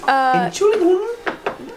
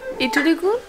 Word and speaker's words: Entschuldigung: Entschuldigung. Entschuldigung. No, how do I say? No stress. Kein Stress. Kein Stress. Okay, excuse me. No Deutsch, excuse bitte. Excusez-moi. No Deutsch, bitte. Entschuldigung.